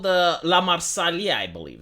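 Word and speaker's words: La Marseillaise: should water our fields this is called the LA marsali I believe it's pronounced I understand that the translations into English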